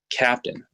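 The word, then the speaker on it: CAPTN: for example the spelling of Capt n is pronounced captain the Stars on the board are locations of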